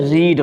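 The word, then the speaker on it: read: ये आपका रीड है, ये आपका रेड है, ये रेड है, रीड रेड रेड, रीडिंग रीड्स।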